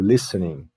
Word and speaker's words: listening: Na palavra listening, né, quando eu pronuncio listening, there are two silent letters. Tem duas letras que não são pronunciadas.